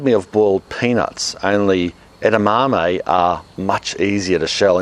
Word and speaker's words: edamame: it I initially tried edamame or you could say edamame if you say it the way it's spelt at a Japanese restaurant